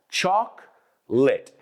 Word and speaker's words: chocolate: Some of those syllables in English. Quítate esa O del medio. Fuera. Choc- late. De hecho, suena como tiza. ¿Sabes decir tiza en inglés? Chalk. Y encendido, lit. Chocolate. No chocolate, no chocolate.